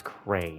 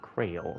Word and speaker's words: Cray: It's Cray, not Krail.